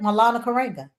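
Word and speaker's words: Maulana Karenga: Milana Coringa.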